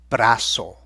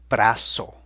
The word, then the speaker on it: brazo: the arm are el brazo, and that S sound again is not an S. El brazo.